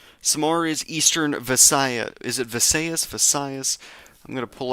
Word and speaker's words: Visayas: Is it Visayas? Visayas. I'm going to pull up Google Translate. See, Vas, Visayas, Visayas.